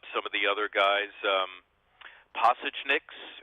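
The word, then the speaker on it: Pasečņiks: of the other guys passage NYX is how you say his last name andris pasta tunics okay so not possession X that Sal OTT of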